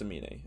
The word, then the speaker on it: Amine: I'm pretty sure it's Amine. Amine, whatever.